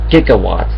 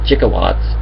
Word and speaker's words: gigawatts: is actually uh it's actually supposed to mean gigawatts not jigawatts but the the word